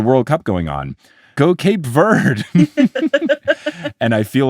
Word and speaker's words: Cape Verde: Go Cape Verde. And I feel like a snooty little snoot because I know that it's pronounced Cape Verde and not Cape Verde, only